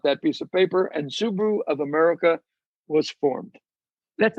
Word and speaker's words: Subaru: But Subaru is how you pronounce it there.